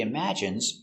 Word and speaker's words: imagine: He imagines traveling in space. Let's take a closer look at the pronunciation. Pronunciation, imagine. Im, ima. J. Strong sound, j. Image. Imagine. Imagine. Imagine. Stress on the second syllable.